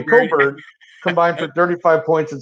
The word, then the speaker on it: Cockburn: But the two big guys, Dosonmu and well, even though it's not pronounced Cockburn, but spelled that way, Coburn, combined for 35 points and 16 boards.